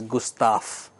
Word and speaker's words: Gustav: g s t a v but it is pronounced as Gustaf then frag and then pyramid and this is